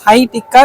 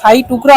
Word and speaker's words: শাহী টুকরা: পাচ্ছ সেখানে তোমরা কিন্তু শাহী টিক্কা যেটা হচ্ছে টুকরা শাহী টুকরা উচ্চারণটা শাহী টুকরা হবে তো এটা মেইনলি হচ্ছে